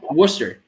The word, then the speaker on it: Worcester: right i'm not gonna get it it's wrong worcester there there you go yeah my roommate freshman